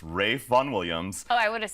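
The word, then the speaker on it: Ralph Vaughan Williams: his name Ralph but it's actually a British pronunciation so it's Ray Von Williams Oh I would have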